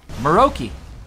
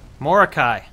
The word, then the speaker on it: Morokei: Maroki. Morikai. Maroki. Who says it's Maroki? I do. Why would it be pronounced Maroki?